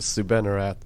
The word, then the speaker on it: Soubannarath: what was your last name saying that again sue benarat okay never mind it took me a few weeks to learn how to spell it yeah well before the show i'm like